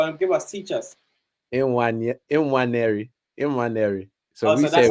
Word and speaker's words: Nwaneri: In fact, I need to be saying his name. I was having this conversation with my mum and dad about how to pronounce it properly. So give me a second. How did they say it? Go on, teach us.